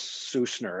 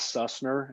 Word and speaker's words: Sussner: age well my name my last name is sousner everybody says sussner and so it rhymes they're zoom lots and